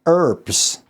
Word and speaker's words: herbs: I I read that that's why Americans say herbs because it sort of comes for French as in the dropping of the H.